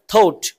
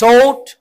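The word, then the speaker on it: thought: past ফর্মটি যখন বলবো তখন উচ্চারণটা ঠ এর পরিবর্তে থ হবে থ বলো থোট থোট টোট থোট থোট থোট সো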